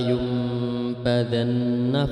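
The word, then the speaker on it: لَيُنْبَذَنَّ: Ini bacaan iqlab, nun mati bertemu dengan ba, itu wajib dibaca mulut tertutup. Kalla la yumbadanna fil hutamah. Jadi nun mati bertemu ba, di situ ada tanda mim. Iqlab iqlab itu biasanya ada tandanya mim, nun mati bertemu ba, itu dibaca mim mati.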